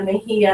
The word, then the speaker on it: Mejia: Yes, it's Julia Mejia, and I'm so proud of you.